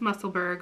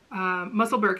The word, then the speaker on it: Musselburgh: she has been knitting i know it's not pronounced muscleburg but that's how i'm going to pronounce it musselburgh hats and she has